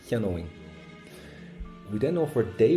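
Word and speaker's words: cheannóinn: Now I would buy gets an owing sound. Owing, cheanóing. I would buy, cheanóing. So it gets an O, but that goes for an ing sound, cheanóing.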